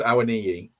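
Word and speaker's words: Awoniyi: If he was going to play two up front, you'd play Dennis and Owamyi. How do you pronounce that again? I keep getting it wrong. Well, I was told it was Awaniyi.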